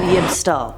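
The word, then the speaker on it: Yibb-Tstll: we have yib stall definitely had to look up how to pronounce that one to be save since it spelled out yib bb-t S L and I did not want to mess it up it's a more obscure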